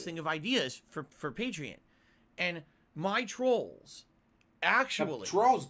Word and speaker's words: Patreon: or patreon or patreon everyone pronounces it differently it should be patreon like you're a patron of the artist because it's too much